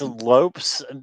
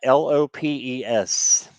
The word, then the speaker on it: Lopes: okay thank you um it's Lopes vice versa l o PES it's just like Lopez but it's it's called she pronounces it Lopes all right okay so